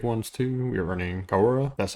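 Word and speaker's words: Kiora: We are running Kaora, that's how you say it.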